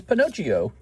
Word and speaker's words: Pinocchio: It's Pinocchio. That's how you say it, by the way. That's true Italian, Pinocchio.